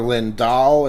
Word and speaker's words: Lindahl: it's Linda I've gotten Lindell a couple times but yeah yeah it doesn't it doesn't really matter I think it's it's Swedish origin okay which makes it